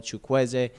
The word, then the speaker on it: Chukwueze: Now, I told you guys I would learn how to pronounce his name, and that's what it is. Samuel Chukwueze is a very exciting right winger.